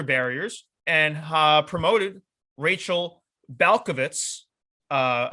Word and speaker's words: Balkovec: promoted rachel balkovitz uh i watched videos to make sure i pronounced that last name right because it could be tricky to go 18 18 different ways with the vec at the end but rachel balkovitz she